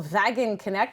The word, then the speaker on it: Wagenknecht: They play out of Toronto, Michael Wagenknecht. I went with the German pronunciation there.